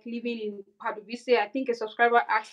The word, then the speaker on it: Pardubice: Some people pronounce it Pardubice, but locals pronounce it Pardubice.